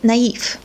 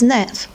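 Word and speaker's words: naïve: non the same with for example the word naive if we don't have this accent we have to pronounce this word as nev so this accent shows us that you have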